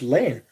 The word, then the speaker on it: Lane: My first name is just Lane. Like a drive is how it's said.